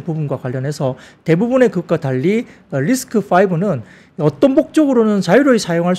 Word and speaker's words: RISC-V: 리스크가 아니고 리스크 파네요 리스크 5 리스크 5 C 다시 이제로 해 그게 되는데 그게 5로 읽더라고요가 이제 로마숫자로 이제니까 리스 예 그렇습니다 그래서 리스크 5입니다 리스크 5로 발음 되고요 이게 뭐냐면 축소 명령어